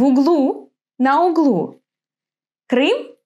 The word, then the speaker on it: углу: Where is the accent in these words? Listen. В аэропорту, в углу. Yes, the accent falls on U, on the last syllable.